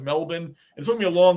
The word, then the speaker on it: Melbourne: were like, it's not Melbourne. It's Melbourne. They had to spell it out like Bruin does from the old time. It's MEL/BIN, Melbourne, even though they're just doing that for the pronunciation.